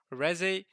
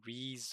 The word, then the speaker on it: Reze: But Reze, which is, by the way, that is the correct pronunciation, because that's how it says in Japanese.